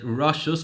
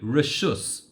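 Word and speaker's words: רשות: Now, I've specifically pronounced it Rashus because that's how it's written in the Mishnah. But of course, the word that we're more familiar with is the word Reshus.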